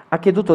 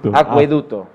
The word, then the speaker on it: acueducto: Aqueducto de Segovia. Opción 2, aqueducto de Toledo. Opción 3, aqueducto de Zaragoza. Aqueducto, aqueducto. Bueno, que estaba ahí, aqueducto. ¿Cómo se dice esto? Acueducto. Acueducto. Acueducto. Acueducto. Gracias.